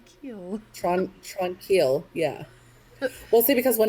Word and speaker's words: Tranquille: you english version it but it's tron keel so when i see it on the paper i want to say tranquil but i hate that